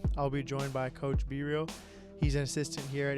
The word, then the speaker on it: Bereal: Players call me Bereal because of my last name, but it's pronounced Bereal.